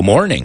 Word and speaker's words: mourning: you might remember Alonso Mourning. Alonso de luto, es lo que significa morning, lleva una U, ¿no? Se pronuncia igual que mañana, right? I was in mourning all morning.